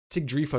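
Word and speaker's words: Sigrdrifa: about siegfried is right sig drifa is right i pronounce it wrong every single time um sig drifa's is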